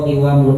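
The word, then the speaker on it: قوام: Wa qiwamul ummah. Ahsan ya. Bacanya qiwam ya.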